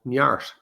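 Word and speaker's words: neart: to mood or state i use an irish word called nyart n-e-a-r-t pronounce this an irish gaelic word nyart in an english translation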